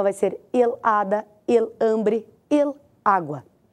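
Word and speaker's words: hambre: É o água vou te dar outra palavra ambre ambre é fome an e isso muito bem an é a sílaba tônica el ambre outra palavra a da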